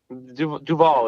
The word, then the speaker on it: Duvall: like that yeah like duval is the right way to say it it's basically the band is named after robert duvall got it um another